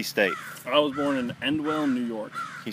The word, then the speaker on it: Endwell: I was born in Endwell, New York. Can you spell that for me?